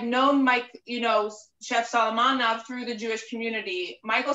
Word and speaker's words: Solomonov: So we want you to know, a few people have said this, that Michael Solomonov, is that how you say it?